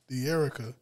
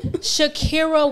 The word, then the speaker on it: Dhakirah: D'Erica. That's what I'm going to call you. No. You don't like that? No. How you pronounce it again? Dhakirah with a D.